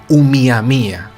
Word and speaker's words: Oumuamua: hawaiana pues se llamaba miami a se escribe pero se tiene que decir un miami a muy bien y esto